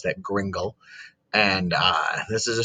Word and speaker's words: gringle: is called the gringle story that's how you pronounce that gringle and uh this is a story that is